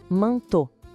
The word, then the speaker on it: manteau: Em francês, sempre que aparecerem essas três vogais juntas, E, A, U, o som vai ser de O. Simples assim. Então a gente lê manteau.